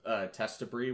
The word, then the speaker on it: Testibri: It's spelled Testibri with the brie, like the cheese.